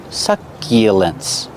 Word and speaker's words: succulents: Use the short like up and cup. Suck. Succulents. Use the y sound like yesterday. Y.